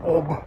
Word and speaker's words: Ob: of OB River yes in Russian language sounds like OB but I guess you you you pronounce it as OB because you guys don't have the soft sign in your alphabets but